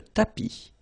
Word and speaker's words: tapis: Remember, final S not pronounced. Le tapis.